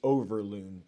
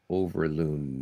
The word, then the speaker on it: Overloon: pretty basic I mean it's just it's overloon o v r l o n as in nany overlo